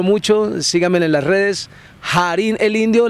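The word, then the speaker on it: Harín: Jarín el Indio, la única H que no es muda. Jarín, se escribe con H, Jarín. Pero suena Jarín, porque está Ja, ya sabemos que es Ja.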